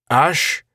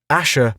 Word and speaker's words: Ash: We returned to the hill—" "Ash?" Not Asher, but Ash.